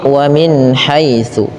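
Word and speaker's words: وَمِنْ حَيْثُ: Kemudian tsa hati-hati dalam pelafalannya jangan dibaca dengan su tapi wamin haitsu.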